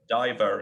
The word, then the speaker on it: Dyevre: You can say Dyevre in English.